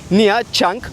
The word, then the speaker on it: Nha Trang: Burayı Google'a yazdığınız zaman Nha Trang diye çıkacak. Vietnamca'da T ve R harfleri yan yana gelince Ça diye okuyoruz. Yani aslında bu şehrin doğru telaffuzu Nha Trang.